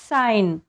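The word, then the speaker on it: sign: जी हा सायलेंट असतो examples साईन जी च्या नंतर एन आला आहे आपण साईन म्हणतोय साईजिन साईजन ज चा उच्चार नाही होत इथे फक्त साईन एन चा उच्चार होतोय तसेच डिझाईन डिझाईन पण तुम्ही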